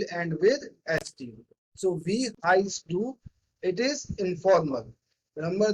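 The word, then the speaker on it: heißt: Now you will say that it is heist. Where is s? Only t is there. Already told to you that this asset, it consists of double s.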